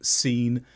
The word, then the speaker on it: scene: Science, scene, descent, where C is silent after S, although it only applies when followed by E or I sounds.